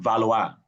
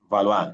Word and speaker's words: valoir: Valoir means to what. Wait, sorry. I thought valoir is to want. No, that's vouloir. Okay, sorry. You see you see pronunciation valoir now?